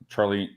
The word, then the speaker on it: Charlene: Charlene. I said it right. Charlene. Yes, you did very good.